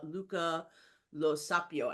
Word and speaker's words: Luca Lo Sapio: most basic of questions though who is uh Luca Lo saio and I so hope I'm pronouncing your name correctly yes yes yes the